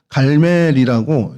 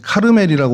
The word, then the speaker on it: 갈멜: 여기가 갈멜이라고 이제 카르멜이라고 오늘날은 발음을 하는데 이곳이 요 마온과 그 직선 거리로 한 1.5km 정도입니다.